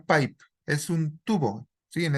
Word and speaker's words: pipe: Se pronuncia pipe.